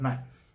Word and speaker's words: knife: I need to sharpen this knife not knife but knife.